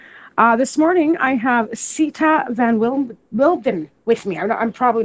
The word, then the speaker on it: von Windheim: This morning, I have Sita von Windheim with me.